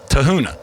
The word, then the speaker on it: Tafuna: Tafuna.